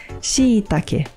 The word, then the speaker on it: shiitake: Mas no Japão se diz shiitake, porque se escreve com dois i's. Shiitake.